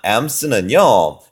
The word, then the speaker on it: alms: 자, alms는요, 자, L이 묵음입니다.